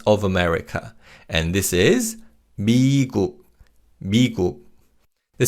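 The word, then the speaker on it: 미국: And first it's United States of America and this is Migu. The syllable B means America, which is why the continents North America and South America are also called pi and nami.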